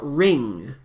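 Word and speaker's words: wring: could be like hey this is a word with a special silent w w r i n g but I don't get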